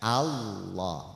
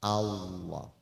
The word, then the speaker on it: Allah: asalnya memang seperti itu Jadi dibacanya Allah bukan Alla bukan Allo tapi Allah berikutnya lagi bahwa haknya